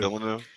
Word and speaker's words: Villeneuve: That's why Dune finally was amazing with the new director Denis Villeneuve. I don't know how to say his last name. Villeneuve?